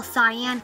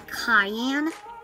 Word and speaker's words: cyan: right mad gent magenta oh i was almost gonna say magneta i used to call it that but then i learned the right way to say it and i used to call cyan cayenne so those are two